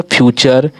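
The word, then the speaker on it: future: आगे देखिए फिर अगला है, कहा जाता है जब किसी वर्ड के लास्ट में टी यू आर ई आता है तो टी यू आर को चर से उच्चारण दे देते हैं। जब किसी भी वर्ड में देखिए टी यू आर ई आ जाता है तो उसका उच्चारण चा दे देते हैं, चर दे देते हैं, चा और रा चर देते हैं।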